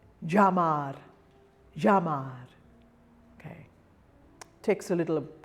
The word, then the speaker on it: llamar: Double L is pronounced j. It's like a Y, but it's very heavy.